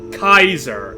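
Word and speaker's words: Caesar: good time at all just ask cesar or kaiser as is the proper pronunciation as you might learn in New Vegas okay putting away the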